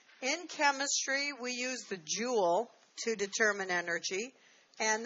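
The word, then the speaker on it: joule: to determine energy and this is spelled a jou le for the scientist who discovered this this is not jewel like Emery emeralds and rubies it's not je wel ok it is the unit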